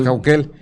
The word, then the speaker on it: Caucel: Por ejemplo, Caucel, ¿no? Que decimos Cauquel.